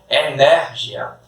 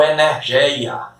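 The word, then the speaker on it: ἐνέργεια: Energia ou energeia, como alguns pronunciam, certo?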